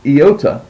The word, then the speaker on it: Iota: is another vow and that is Iota and it is pronounced like the i in intrigue now the thing about eota is I try to pronounce it anytime that I unless it's indicated otherwise I give it an i sound I eota um and